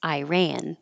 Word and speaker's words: Iran: think more common is Iran with the letter i sounding like I and ran sounding just like Iran